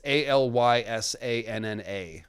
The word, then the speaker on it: Alysanne: And it's Alyssanna, Maynard Plum. I don't know how the Grateful Dead song is spelled, but that's Alysanne Targaryen.